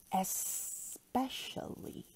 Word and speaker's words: especially: Especially. Remember to pronounce the S and not X, but S.